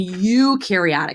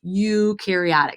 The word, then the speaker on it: eukaryotic: And eukaryotic, that's how you say it. Eukaryotic.